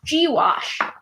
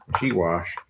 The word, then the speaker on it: gouache: oh you a CH e yeah um it's pronounced G wash G wash wash I'm taking a moment to look inside